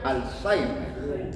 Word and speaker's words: Alzheimer: Se escribe Alzheimer con H, Alzheimer con H, y se pronuncia Alzheimer.